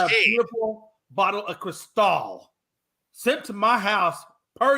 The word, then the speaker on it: Cristal: With your takes, I'm thinking you want a bag of Crystal. Not, I think you're just saying it wrong. I said Cristal. The way it's supposed to be said is Cristal.